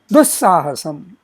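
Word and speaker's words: दुःसाहसम्: Likewise, dussahasam. Here also the visarjaniya stays, but its pronunciation is more like the sa next to it.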